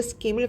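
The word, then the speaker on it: scheme: 네, 정체성 카드 스킴을 가지고 있습니다. 이게 제도를 얘기하는 거예요. 발음 스킴 하면 돼요.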